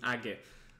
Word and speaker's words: age: about the pronunciation of age i have an answer for this ag is pronounced like the root of the word raise in japanese so no no no